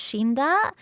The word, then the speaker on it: Cinder: meant to be and my name Cinder in in uh Japanese it's pronounced shinda which also means death